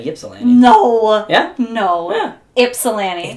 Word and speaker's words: Ypsilanti: How do you pronounce that one? I might get it wrong. Ypsilanti. Yeah, it's Ypsilanti. I've heard seen people say Ypsilanti.